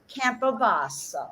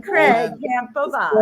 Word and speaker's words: Campobasso: tomorrow at Craig's event, and I'm going to pronounce it one more time: Campobasso. Ah, you did so I've good. been kind of practicing. Craig Campobasso.